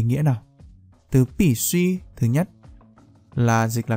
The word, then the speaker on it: 必需: Ở trong video này thì chúng ta hãy cùng nhau phân biệt hai từ đọc là bì suy và bì suy.